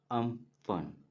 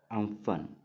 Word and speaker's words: Amphan: इसको अगर हम जो प्रोनाउंस करते हैं तो इसको जो रियल जो प्रोनाउंस है उसको बोलेंगे हम लोग अम्फन। अम्फन। ठीक है। इस तरह से प्रोनाउंस करना है हमें, अम्फन।